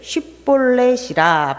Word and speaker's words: 십볼렛: 쉽게 볼렛 이렇게 발음을 해야지 정확한 거였는데 에브라함 사람들은이 발음을 잘 못 했대요. 발음을 못 했대요. 정도까지 밖에 발음을 못 했대요. 그래서 에브라힘 사람들은 슈볼렛이라고 못 하고 벌렛이라고 했대요.